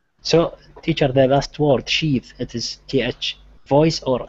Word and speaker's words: sheath: So with sheath, we have sheath as a noun and it's unvoiced.